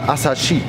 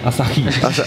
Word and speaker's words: Asahi: Se pronuncia Asahi. Asahi.